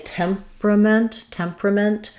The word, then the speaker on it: temperament: So this is another one that looks like temperament, but we tend to just say temperament. We kind of condense these 2 syllables into one. So it ends up sounding like temperament.